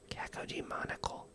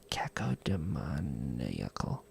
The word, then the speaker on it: cacodemoniacal: Cacodemonical. Cacodemoniacal. Yeah, that is it.